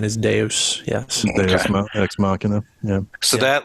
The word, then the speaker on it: deus ex machina: or this Deuce X how do you say deus ex machina um I think it's Deus right because it's got God Act of God yeah most people say dudes most people say Deuce yeah I do too